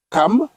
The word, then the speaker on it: Cham: Les fils de Noé qui sortirent de l'arche étaient Sem, Cham ou bien Cam. Oui. Parce qu'on prononce Cam.